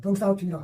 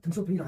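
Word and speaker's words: 덩샤오핑: 덩사오핑이라고 하느냐, 등소핑이라고 하느냐. 뭐 둘 다 말해도 알지만 덩사오핑이라고 하는 것이 왜냐하면 본인이 어떻게 불렸으니까 그것이 K 춘추답다.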